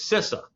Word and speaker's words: CISA: Now, you know, VISA is visa and LISA is LISA, but somehow CISA is SISA.